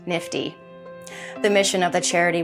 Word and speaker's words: NFTE: Teaching Entrepreneurship, a charity commonly known as NFTE, and pronounced NIFTY.